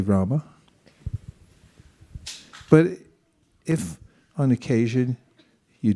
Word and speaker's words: Rama: matter if you say Rama or RAM does it matter well everything matters and there are there is a syllable at the end so it's it's best to say Rama but if on occasion